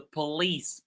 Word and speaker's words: police: Hey, leave me alone, or I'm going to call the police. Police. You can see the lease is very loud compared to p, right? The whole syllable po is reduced into p.